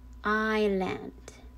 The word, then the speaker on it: island: also in this word island is with the silent s okay silent s so it is pronounced island all right and then